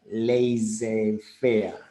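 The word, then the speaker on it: laissez-faire: right of laser fair that is the pronunciation remember that lazy fair that the look says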